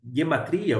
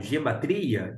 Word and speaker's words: guematria: hebraico nós temos a chamada eh guematria ou gematria de acordo com a pronúncia que você queira utilizar mas é esse essa